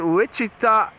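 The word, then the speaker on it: Wichita: We live in Witchita, Kansas." How do you say that? Which I like that. Which city? Which city do you live in? Which Kansas? No, it's witchita.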